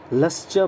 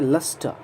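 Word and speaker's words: lustre: अब देखिए, बहुत लोग इसे लस्चा पढ़ते हैं, जैसा मैंने अभी पढ़ा था. ओके, अब ध्यान रखें, लस्चा नहीं पढ़ें आप. च के बाद अ साउंड नहीं, बल्कि यह है लस्टा. ट के बाद अ साउंड आप बोलें.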